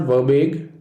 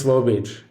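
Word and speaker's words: verbiage: next letter is v it's not verbage it's verbage here's another word that loses its eye in speech pronouncing it correctly will help you spell it correctly the next letter is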